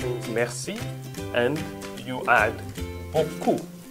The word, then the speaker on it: beaucoup: It means merci and you add beaucoup. It's also in two different syllables. Beaucoup, it means beau. This is the third one. And the fourth one is coup.